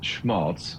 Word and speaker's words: Schmalz: for being here David schals I hope I am pronouncing your name correctly from Monterey County week hi hi hello um it's pronounced schmalz uh you know it's